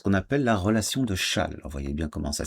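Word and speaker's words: Chasles: Alors, une relation extrêmement importante, ce qu'on appelle la relation de châle. Voyez bien comment ça s'écrit. Il y a un S ici et ça se prononce chale.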